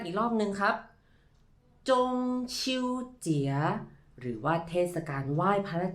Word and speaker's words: 中秋节: ตาม พร้อม กัน อีก รอบ นึง ครับ ว่า จง ชิว เจี๋ย หรือ ว่า เทศกาล ไหว้ พระ จันทร์ ซึ่ง คำ